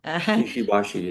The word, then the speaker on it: Ishibashi: if I'm saying it right, Ishibashi. Ishibashi, yes.